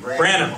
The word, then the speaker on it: Branham: Branham.